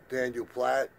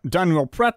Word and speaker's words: Daniel Pratt: my brother did uh Daniel Platt well apart from you completely mispronouncing his name Daniel Pratt himself is a very